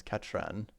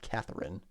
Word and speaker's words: Catherine: something else okay so her original name is katran not Catherine so Catherine must be some way that artists happened to pronounce it I'm afraid there is